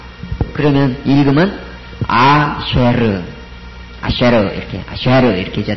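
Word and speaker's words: אֲשֶׁר: 밑에 줄 굽고 그다음에 해골은 뭐죠 세골 쇄골은이에 발음이 크게에 써줘야 되죠 그다음에 레시는 R 그러면 읽으면 아쉐르 아쉐르 이렇게 아쉐르 이렇게 해줘야 되겠죠 19번 레쉬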